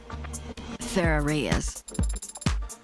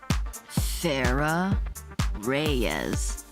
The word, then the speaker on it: Farah Reyes: So, for the record, your full name is Farah Reyes. And how is that pronounced? Like how I just said it. Farah Reyes.